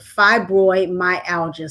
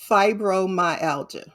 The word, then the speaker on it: fibromyalgia: familiar with, and that is the subject of fibromyalgia. Say hello to the people. Hello. if you like. Oh. All right. Now pronounce it for me again. Fibromyalgia.